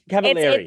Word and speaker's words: Cavallari: There was a Cavallari. Cavallari. It rhymes with very.